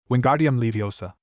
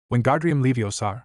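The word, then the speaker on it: Wingardium Leviosa: Wingardium Leiosa. Now you give it a try. Wgardium Leiosar Ran said, but Hermione heard the misprononunciation and corrected him. There is no second R in the first part.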